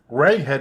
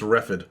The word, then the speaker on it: Reghed: Reghead is spelled Reghed. Reghead. Yeah. Not the other thing. Yeah. So be careful. And it's going to come up a lot because all of the surrounding barriers are the Reghedian barbarians. Be careful. You know what? Maybe they pronounce it like the GH in tough. Maybe it's Refid.